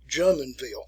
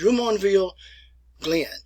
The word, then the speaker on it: Jumonville Glen: Now, if you go there today in Pennsylvania, they pronounce it Jumonville, but it's Jumonville Glen. So think of it like a French pronunciation.